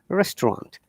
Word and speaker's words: restaurant: It's a French word, restaurant. But that is the N sound should be coming through the nose.